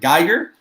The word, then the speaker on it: Geiger: Did I pronounce it right? Yeah, I think you got it, bro. Say it All again. right, perfect. Geiger.